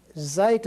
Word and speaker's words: zeta: different from English letters it's very much sound as far as the Z or Zoo the way zoo is pronounced it's the way it's going to be pronounced but it's a Zeta